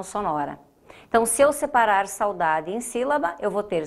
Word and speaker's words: saudade: saudade diferente de saúde saudade eu não digo sá o daad eu digo saudade eu faço isso numa única emissão sonora então se eu separar saudade em cima eu vou